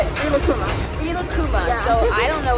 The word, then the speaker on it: Rilakkuma: Rilakkuma.